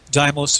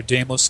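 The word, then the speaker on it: Deimos: um other moons uh depending on how you want to pronounce it whe you want to do the Greek or the modern language uh doos and Phobos or damos and Phobos of Mars have no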